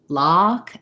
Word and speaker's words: lock: or more closed so think of this one lock and fox as really having a really open eye and your tongue is pushed way down so i would say